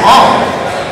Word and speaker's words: Aang: Which I read an article saying, you know, it's more properly pronounced as Ong. But it's like there's a big audience that knows him as Aang.